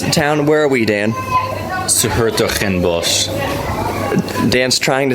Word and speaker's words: Hertogenbosch: Dan, how do you pronounce this town? Where are we, Dan? Hertogenbosch.